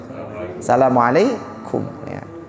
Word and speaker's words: Assalamualaikum: Makanya assalamualaikum atau assalamualaikum. Assalamualaikum, ya. Bukan assalamualaikum, nah, salah ya.